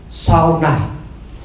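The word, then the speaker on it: שׂנא: bahasa Ibrani menggunakan kata sauna ya ini tulisannya ee Sane ya Tapi bacanya Saun kata ini memiliki arti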